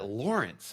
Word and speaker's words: Lorenc: that's that's the standard one okay all right Lawrence okay I everyone in case you're just listening